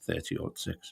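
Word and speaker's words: .30-06: 30 or 6 and i told her how to say which is 30 odd 6 which is the which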